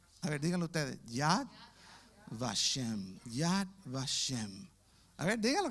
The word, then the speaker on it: Yad Vashem: Yad Vashem. A ver, díganlo ustedes. Yad Vashem.